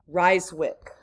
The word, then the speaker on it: Ryswick: somewhere out here that it's the Treaty of Ryswick. I'm going to spell that for you. R-Y-S-W-I-C-K.